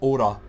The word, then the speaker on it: Aura: I'll keep wanting to say Aurora for some reason, but it's Aura.